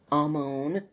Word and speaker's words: Amon: Well, what's the actual pronunciation? Amon. Amon, because I always pronounce the R, and it probably should be at least softened a lot more.